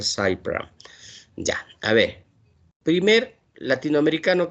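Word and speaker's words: Sully Prudhomme: Es Cy Pram, no se olviden, ¿no? Cy Pram. Se escribe Sully y Prodme, ¿no? Pero se pronuncia Cy Pram.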